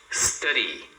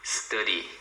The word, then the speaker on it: study: Study, a mesma coisa. Agora é o D entre dois sons de vogal. Então você fala como se fosse um R, tá? Study.